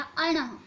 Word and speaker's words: ण: बच्चों इसका सही से उच्चारण करना है हमें। ध्यान दो, ये इसका उच्चारण किस तरीके से किया जाता है ये व्यंजन का? अणः, अणः, अणः।